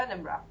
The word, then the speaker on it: Edinburgh: Edinburgh the same reason how do you say it is it Edinburgh well there are few ways you can say Edinburg Edinburgh edin so whatever you want okay so I am